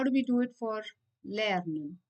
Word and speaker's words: lerne: So guys, E at the end should be pronounced as a in German. Yeah? So lerne and not lernen.